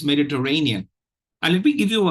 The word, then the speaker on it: Mediterranean: syllables you have uh the fourth syllable is is uh stressed uh has primary stress